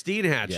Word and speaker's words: Steinhatchee: Steinhatchee. Oh, it's Steinhatchee. Yeah, okay. So I want to make sure that again pronunciation.